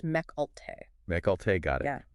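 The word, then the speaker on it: Mecc Alte: Companies like Mech Alt and it's pronounced Mech Alt.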